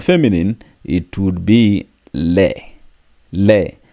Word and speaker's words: les: Le. The S is silent.